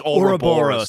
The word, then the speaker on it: Ouroboros: The, I say a robber. It's Ouroboros. The snake eating its own tail, which, by the way, is usually very a circle. British pronunciation. Yes.